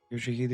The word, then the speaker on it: Yoshihide: 아니, 그 글자는 그렇게 읽는 게 아니라 요시대라고 읽는 거다. Yoshihide is how you read my name.